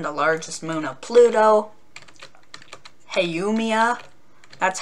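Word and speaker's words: Haumea: you have cheron the largest moon of pluto hey yumiya that's how you pronounce that make make wonder what it makes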